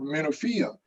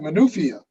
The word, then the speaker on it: Menofia: and he always wants me to correct his pronunciation or his word usage. And that's why we were joking about the word Menofia, because I've been to Menofia, but I always said Menufia.